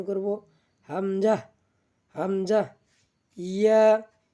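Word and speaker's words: ياء: ইয়া, ইয়া, ইয়া আমরা জিহ্বার মাঝখান থেকে তার বরাবর উপরে তালুর সঙ্গে লাগাইয়া উচ্চারণ করি ইয়া, ইয়া, ইয়া।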